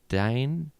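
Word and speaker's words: Diahn: Diane? Is it? What is it again? D-I-A-H-N. Is that a way of saying Diane? I would think so.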